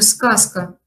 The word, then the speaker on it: сказка: В слове «сказка» «з» у нас оглушается, мы произносим «с» вместо «з».